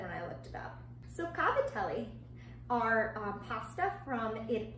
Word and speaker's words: cavatelli: as cavatelli but my grandmother is known for mispronouncing things so I'm gonna go ahead and say cavatelli that's what it said when I looked about so cavatelli are pop stuff from it from southern Italy